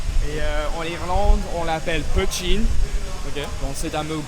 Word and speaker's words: poitín: Et en Irlande, on l'appelle poitín. Okay. Donc c'est un mot gaélique. Ça s'écrit P-O-I-T-I accent aigu N.